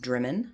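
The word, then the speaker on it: Drymen: We stayed here at the Conic Hotel right in, apparently it's pronounced Drimmen, so I was saying that wrong in my first video.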